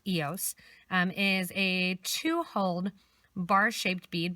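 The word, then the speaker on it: IOS: The Eos bead, it's I-O-S, and in French it's pronounced Eos, is a 2-holed bar-shaped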